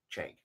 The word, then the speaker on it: Cenk: So, Cenk. For some reason, I started to say like a hard C.